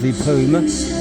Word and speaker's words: Suvarnabhumi: You can fly from Beijing to Bangkok main airport, which is called Suvarnabhumi, as it's pronounced, directly cheaper than you can flying into the lower ranked airport.